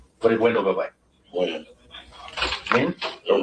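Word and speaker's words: Wynn: Win. Win or Wen?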